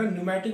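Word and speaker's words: pneumatic: अब देखो एक वर्ड यहाँ पे है न्यूमेटिक, पी साइलेंट है, NEUMATIC, इसको अंडरलाइन कर लीजिएगा। न्यूमेटिक मतलब होता है हॉलो, खोखली, जिसमें स्पेस हो, एयर भरी होती है।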